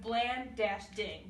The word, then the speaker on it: Blanding: And for his last name, we have Bland-Ding. That way we know how to pronounce it Blanding when we're announcing his award.